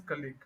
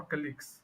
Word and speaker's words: colleague: College that's college and the one you're talking about like as in your work friend so your work friends are known as colleague okay or colleagues if it's uh if it's like more than one so colleagues okay colleagues yeah all right so that's how you would pronounce it um so yeah uh